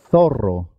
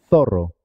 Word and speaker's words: zorro: zapato cenicero cine la siguiente palabra tiene dos sonidos especiales puedes pronunciarla sí zorro zorro r zorro y la última zumo